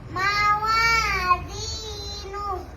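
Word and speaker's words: مَوَازِينُ: মা এখানে মাওয়াজিনু মাওয়াজিনু। মুয়াতে টান হবে মাওয়াজিনু মাশাআল্লাহ।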